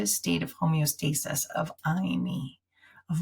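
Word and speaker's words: ayni: us and it's this term called iy isn't and we all giggled like 12-year-olds because we're like it sounds like Hy but it it's a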